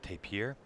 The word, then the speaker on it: tapir: Lindsay Christensen that one the first target we have is gonna be the tapir some people pronounce it tape here first shot it's gonna